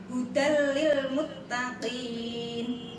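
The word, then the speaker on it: هُدًى لِلْمُتَّقِينَ: Maka cara membacanya melebur tanwinnya ke huruf sesudahnya yaitu lam, tetapi jangan sampai menimbulkan bunyi dengung. Cara membacanya hudal lil muttaqin, jangan sampai menimbulkan bunyi dengung.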